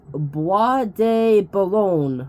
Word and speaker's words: Bois de Boulogne: a lake, which I actually wrote out the pronunciation. It's Bois de Boulogne Park. Bois de Boulogne Park, in France, I think.